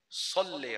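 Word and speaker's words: صلِّ: ला, Allahumma shalli ala, तो भाई शल्ले नहीं है, सल्ले ala, सल्ली ala, अगर अच्छी अरबी में प्रोनाउंस करना है तो Allahumma सल्ली ala, शल्ले नहीं होता, शल्ले मत बोला करें,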